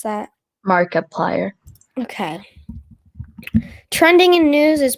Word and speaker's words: Markiplier: How do you pronounce that? Markiplier.